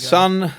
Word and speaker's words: Son: Son.